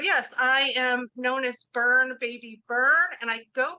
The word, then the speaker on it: Byrne: But yes, I am known as Byrne Baby Byrne, and I go by that because it's a little bit safer than my name, which is.